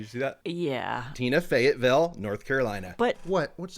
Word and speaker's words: Fayetteville: Our story begins May 8th, 1985 in Tina, Fayetteville, North Carolina. That's how I remember how to say it, Kate. Did you see that? Yeah. Tina, Fayetteville, North Carolina.